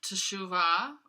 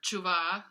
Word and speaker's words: teshuva: was related to the concept of teshuva or kuba as people often pronounce it because David Men discusses